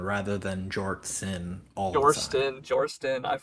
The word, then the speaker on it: Jortsin: Like I still say Jorstin rather than Jortsin all the time.